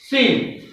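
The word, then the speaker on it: scene: after f c will be silent and the pronunciation will be seen s t i double s o r s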